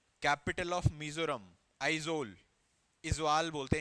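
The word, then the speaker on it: Aizawl: हाँ, इजवाल बोलते हैं वैसे हम नॉर्मल। हाँ, इजवाल ही लिखना है। मतलब कैपिटल ऑफ मिजोरम है इजवाल, मतलब बट आई एम टॉकिंग कि एग्जैक्टली इंग्लिश में क्या स्पेल करेंगे उसको, तो उसको आइजोल बोलते हैं। मतलब वो लोग भाई, what is द कैपिटल of Mizoram, that is आइजोल, ऐसे प्रोनाउंसिएशन ऐसे होती है।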